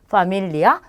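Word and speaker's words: familia: 그래서 발음은 영어랑 똑같이 F 발음처럼 해주시면 돼요. 그래서 파밀리아, 페차, 펠리스 이렇게 발음하시면 되겠습니다.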